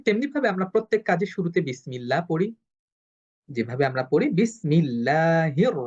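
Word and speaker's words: بسم الله: এ কারণে আমরা এটা পাতলা করে পড়ব। বিসমিল্লাহি। আমি যদি বলি বিসমিল্লাহি এটা ভুল উচ্চারণ হবে। কারণ কারণ পূর্ববর্তী হরফের যে হরকতটা সেটা হলো জের।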